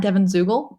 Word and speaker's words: Zuegel: My Twitter handle is at Devon Zuegel. My name is weird, so I'm going to spell it for you.